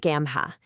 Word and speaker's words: GAAMHA: We're going to talk about Gamma and how they're completely rethinking what community support looks like. So, Gamma, and you pronounce it gamma, is built on this